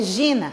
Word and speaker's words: geena: palavra é Gina e escreve-se jeena jeena mas a pronúncia grega é Gina e nas tradições antigas